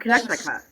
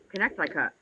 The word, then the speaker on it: Connecticut: Well, what about connect I cut lunch in that state? Well, that what state? Connect I cut Connecticut. Connecticut? Yeah, Connecticut. Yeah, I can't say it like that. I go connect I cut.